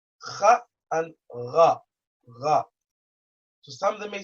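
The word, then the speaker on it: ر: letter kha, kha and ra, ra. To some, they may sound the same. They are not the same because when you pronounce them, they come from two different locations.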